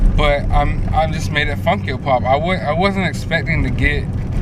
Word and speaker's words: FunkYoPop: And it's, some people mispronounce it, call it Funky O-Pop. No, that's not the fucking name of the Instagram. It is Funk Yo Pop.